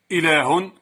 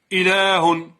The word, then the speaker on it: إله: إله. إذن هي من الكلمات الشاذة التي تحذف ألفها كتابة أي رسما وتثبت نطقا.